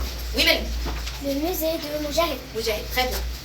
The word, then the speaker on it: musée: est entre très bien parce que le s lorsque le s elle est entre de voy la prononce z. Très bien. On la prononce z. Le musée de Mahid.